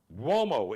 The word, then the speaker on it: Uomo: Check out his Mario Uomo collection on Instagram, Mario, Mario Uomo is U-O-M-O. Pronounced Uomo, spelled U-O-M-O.